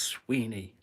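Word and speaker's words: Suibhne: is I don't have to say it oh Sweeney it's spelled s UI b h n e s UI b h H NE e pronounced Sweeney the Sweeny who receives the epithet G gu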